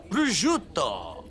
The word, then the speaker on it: Brut: asparagus with a crisp Brut that's how you pronounce that it's Brut that looks good man I want to eat